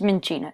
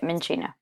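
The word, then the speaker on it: Minccino: Okay, it's like cappuccino. Okay, it's Minchino. That's how you say it, Minchino.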